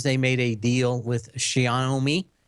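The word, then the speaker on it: Xiaomi: made a deal with Shia know me and that's how you pronounce it like show me show me and that of course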